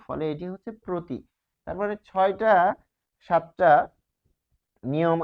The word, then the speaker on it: প্রতি: ফলে এটি হচ্ছে প্রতি।